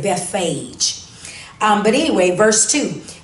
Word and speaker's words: Bethphage: them and sometimes that beth page like i said it that way but people say it different ways some people say uh before bethesda something like that so you may hear that word um pronounced differently but i said bethphage um but anyway verse